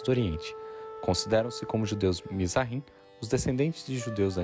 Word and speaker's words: Mizrahim: Onde a pronúncia correta é. Mizrahim, Mizrahim, Mizrahim.